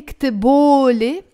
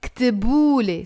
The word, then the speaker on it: كتبولي: That's why you don't say كتبولي. It, you go back to pronouncing it as a U, كتبولي.